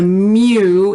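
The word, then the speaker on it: μ: that x bar and this one is a lowercase greek m it's a mu it looks kind of like a u is supposed to be a lowercase m so it's a mu it's short for mean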